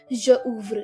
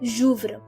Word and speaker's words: j'ouvre: apostrophe in a pronoun, you do not pronounce it as je ouvre. You don't still pronounce the e in that. You join the pronunciation of the pronoun and the conjugated verb. So it's gonna be like j'ouvre, because we have 2